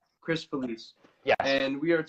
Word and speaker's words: Felice: It's Felice, right? Am I pronouncing that correctly? Chris Felice.